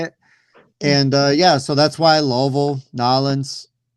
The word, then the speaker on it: Louisville: It is not Louisville. It's not even Louisville. It's Louisville. You say Louisville. If you're saying it right, you say Louisville. And that's that is how the natives say it.